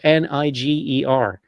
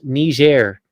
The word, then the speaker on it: Niger: Niger, yeah, but it's one of these former French colonies, and they all speak French there.